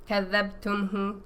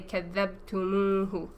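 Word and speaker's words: كذبتموه: Because kadhabtumhu just didn't sound good to the Arabs. Right, so they stick a wow in between to make the pronunciation more smooth. So instead of saying kadhabtumhu, they say kadhabtumuhu.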